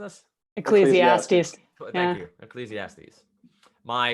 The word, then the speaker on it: Ecclesiastes: How are we pronouncing this? Ecclesiastes.